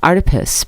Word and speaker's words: Artipoeus: Artipoeus, pronounced like octopus, because art is everywhere.